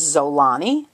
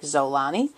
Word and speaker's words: Xolani: and her name is zolani which is spelled X Ola and I the X is pronounced Z it can also be pronounced Omani but I like zolani and it means be